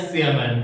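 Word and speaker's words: siemens: फिर होता है सीमन अब कई बुक्स में जो है सीमन को साइमन भी लिखता है बट इसका करेक्ट जो शुद्ध उच्चारण होता है वो होता है सीमन राइट इसके बाद में देखो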